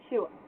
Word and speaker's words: Schule: And the SCH in German, it's basically the English equivalent for SH. You don't see just the SH alone very often in German, but you'll see this. So it's pronounced like shoe, or sh.